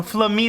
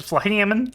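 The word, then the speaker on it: Flammen: Oh, flamina. That's how you pronounce it. I always said flammon. It's flam. Oh no. Sorry. Like flammon.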